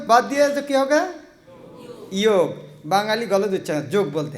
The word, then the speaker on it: योग: क्या है बहुत सुंदर जोग शब्द जो जो शब्द क्या है जोग एक्चु बांगला शब्द है योग जोग नहीं योग इसको उ क्या है